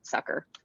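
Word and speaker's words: Succor: my short is called sucker it's spelled s-u-c-c-o-r but you pronounce it sucker um and uh it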